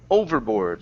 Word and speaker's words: overboard: this word here is overboard so the stress is at the beginning instead of at the end okay uh and tossed